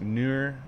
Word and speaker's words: nour: It's pronounced nour, also spelled nour, and then you have it in Arabic and some other ones.